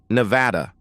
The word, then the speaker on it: Nevada: "No, and I use the English pronunciation, Nevada."